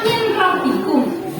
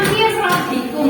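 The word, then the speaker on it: مِن رَّبِّكُم: silakan dibaca Heeh tulisannya Min rbikum tapi dibacanya mirbikum karena apa Karena dia pembacaannya I Bil masukan huruf n ini kepadau di depannya huruf Ro Jadi suara nunnya masuk ke ro tapi tidak demung langsungabikum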